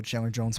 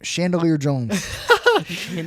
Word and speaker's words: Chandler Jones: I didn't know who the hell Chandler Jones was. You remember it now? And I was That's kind of a dumb kid. I am kind of a dumb kid. And I pronounced his name Chandelier Jones.